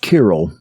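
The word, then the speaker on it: Cyril: tremendous quote that is kirill of jerusalem that c-y-r-i-l pronounced kirill pro-catechesis is the name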